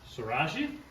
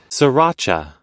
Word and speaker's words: sriracha: some of this uh srirachi I never say it right but that's what it is sriracha I like a little